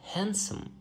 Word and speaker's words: handsome: And not only in Wednesday, but also in words like handsome or handkerchief. It is also silent.